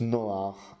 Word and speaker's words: Noé: la personne de Noé son nom se prononce Nord en hébreu et s'écrit avec deux